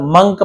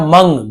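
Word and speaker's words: monk: वॉज यानी था, अ मंक, इसे बहुत से लोग मॉन्ग पढ़ते हैं, बहुत से लोग मंक पढ़ते हैं, बट सही उच्चारण मंग, ग जैसे होता है ऐसे मंग है ना, ये मंग।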